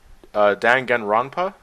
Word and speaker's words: Danganronpa: Well, they have Danganronpa. Am I pronouncing that right?